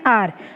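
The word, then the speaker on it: hour: Sound निकाल रहा है, बट एन आर, आर में एच जो है वो किसका? अ का साउंड निकाला है। द एच एट the beginning of आर is silent, silent है।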